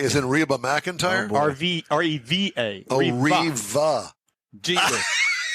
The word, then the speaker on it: Reva: R-E-V-A.